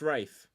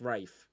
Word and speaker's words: Ralph: It's pronounced Rafe. Is it? Yeah, it's Rafe finds. It's not Ray. It's Rafe.